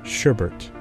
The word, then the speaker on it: sherbet: For instance, you may have heard some English speakers add an epithetic R to the word sherbet, pronouncing it sherbet.